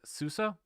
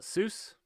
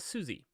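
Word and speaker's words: SUSE: uh this is pronounced Susa it's it's German so uh I used to call it soos before I worked for Souza um I was corrected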